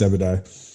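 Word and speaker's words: Obadiah: And if you haven't read this story, is it Abadiah? Is that how you say it? That is right. I don't know the story you're going into, but it's Abadiah.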